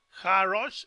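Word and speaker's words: הָרֹאשׁ: Entonces, Ja Rosh es la cabeza, sí. Así se menciona, en una sola palabra, Jarosh.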